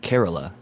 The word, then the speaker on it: Kerala: do it whoever that is i think it's kerala not to be like to uh india specific but somebody who corrected me it's kerala is the way that you pronounce that little area in india and then